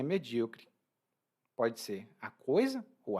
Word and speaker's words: medíocre: E é um pouco pesado, porque quando a gente diz que alguém é medíocre, e aqui a minha pronúncia é medíocre, tá?